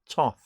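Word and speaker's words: Thoth: Crowley deck Toth Tarot spell th o th but pronounced Tov and it was my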